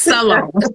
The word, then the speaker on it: Salone: And my last name is spelled like alone, like leave me alone, with an S in front of it. It's Salone.